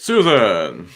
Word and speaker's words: Sossego: He pronounces it Susan.